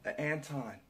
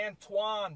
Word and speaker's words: Antoine: Anton. Is there any... Antoine, bro.